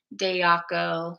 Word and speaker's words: Dejaco: like Highline with by Tiffany dayaco which is spelled dejaco um fully uh there there